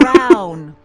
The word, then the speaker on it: Brown: Emmett Brown. Rhymes with clown, which I'm beginning to think you are.